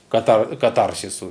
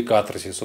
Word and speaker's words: катарсис: Для меня это было сродни катарсису или катарсису. Вообще правильно говорить катарсис, но благозвучнее говорить катарсис.